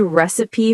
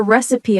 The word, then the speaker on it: recipe: For example, do you have a good recipe for banana bread? Or, I followed a recipe online and it was perfect. Notice the pronunciation, recipe. Some people say it wrong, recipe, three syllables.